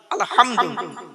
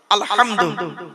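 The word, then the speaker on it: الحمد: বলি আলহামদুলিল্লাহি রাব্বিল আলামিন আলহামদু গলার ভেতর থেকে এটা উচ্চারণ করবেন আলহামদু আলহামদুলিল্লাহ মানে হচ্ছে সমস্ত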